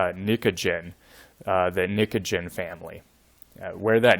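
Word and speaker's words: pnictogen: of that group and the p is sort of silent so this is pronounced nicogen the nicogen family where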